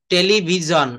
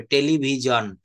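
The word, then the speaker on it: television: nation Q হেলথিন elephant টেলিভিশন এ দেখেন টেলিভিশন বলি কিন্তু এস আইওন এখানে জ এর মত উচ্চারিত হবে টেলিভিজন চি এটা চি মানে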